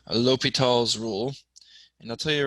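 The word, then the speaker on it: L'Hôpital: right now that is not how this is pronounced it's not the hospital rule where we're learning about it's called l'hopital's Rule and um it relates to limits so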